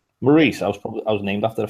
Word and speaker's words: Maurice: Morris spelled like my name, but yeah. Maurice.